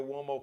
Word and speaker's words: Uomo: Uomo is an Italian name, so it's U like umbrella, O, M like Mary, O, but it's pronounced Uomo, Mario Uomo.